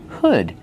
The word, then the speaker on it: hood: Use the short sound like good. Hood. Not hood, but hood. Make that sound like good and wood.